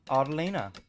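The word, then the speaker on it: Autelina: So the palace name is pronounced Autolina.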